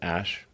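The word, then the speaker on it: Æ: So, I mean, it's just X, the letter X, and then the AE is like pronounced Ash.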